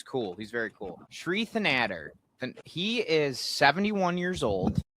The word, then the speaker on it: Thanedar: Thanedar. He's horrible. Yeah, okay. Shri Thanedar, this guy is running against Donovan McKinney is trying to who's cool. He's very cool. Shri Thanedar, he is 71 years old.